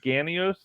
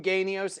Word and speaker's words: Ganios: but um Tony uh I say it's probably ganios do not call him genius if you call him ganios he'll go what the is with this genius thing it's pronounced and I